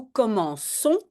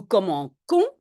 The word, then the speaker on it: commençons: Si j'ai un G ou un C avant AOU, je prononce K, hein, nous commençons, et si je ne veux pas dire nous commençons, je vais devoir mettre une petite cédille.